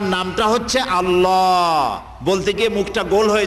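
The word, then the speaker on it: الله: আল্লাহর নামটা হচ্ছে আল্লাহ।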